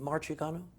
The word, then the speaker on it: Marciano: another justice, is it Marciano? Marciano. Marciano. Marciano. Like Rocky. He's, I think it's spelled it's an different. extra different pronunciation.